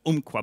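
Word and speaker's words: Umpqua: companies it's called the Aqua Bank the P is silent I don't know why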